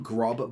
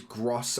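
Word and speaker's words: Groß: I always go with, I always call him Grob, but it is Gross, I believe is how you pronounce it.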